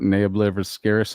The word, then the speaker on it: Nea Obliviscaris: Nea Obliviscaris.